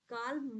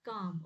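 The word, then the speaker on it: calm: है काम है ओके इसको काल्म मत पढ़ना एल इसमें साइलेंट है तो this is नॉट काल्म this this is काम ओके काम दैट मींस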